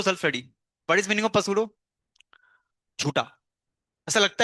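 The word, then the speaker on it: pseudo: जल्दी से हेडिंग मारो पसूड़ो फर्स्ट ऑर्डर रे पसूड़ो मतलब स्पेलिंग ये रही मेरी इंग्लिश खतरनाक है तो मैं यहां पी नहीं करता साइलेंट में। यूजली पी साइलेंट होता है।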